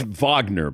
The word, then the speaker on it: Wagner: you can't rewind it I think it's Vagner by the way not I mean let's pronounce it correctly you know European style